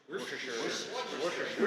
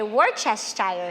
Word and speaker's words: Worcestershire: The pronunciation, Wor -- - I never get it right.” “-- ches --” “War-sta-shire.” “Wors-wors-wors-suh-sure.” “Wers-a-shur. Worsty-sher.” “On my channel, I say Wor-chest-ayer sauce. We’re gonna take some Worcestershire sauce, and we’re gonna mix that up.